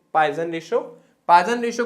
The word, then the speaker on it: Poisson: पॉइसन ratio या फिर पावसो अनुपात। ठीक है, पॉइसन ही इसका एग्जैक्ट प्रोनाउंसिएशन, ये भी साइंटिस्ट का नाम है, मैथमेटिक्स में भी यूज होता है।